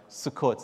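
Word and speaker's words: Sukkot: the church to make sure I got that pronunciation right sukot so everybody say sukot sukot is that correct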